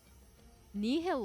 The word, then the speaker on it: nihil: Nihill light or would be nihil because English Latin pronun classical classical Latin pronunciation would be nihil.